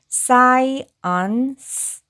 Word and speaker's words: science: 그리고 C는 여기에서 소리 나고 E는 묵음이니까이 단어는 앞에서부터 읽어 보면 science science science라고 발음하시면 되겠습니다.이 사언스는요 과학이라는 뜻입니다.